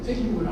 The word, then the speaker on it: feiura: Ó, aqui, feiura, ó. Tônica na penúltima sílaba, portanto é uma palavra paroxítona.